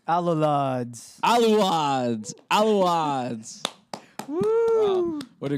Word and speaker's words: Alolod: Alulads.